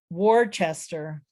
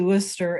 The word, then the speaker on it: Worcester: Worcester.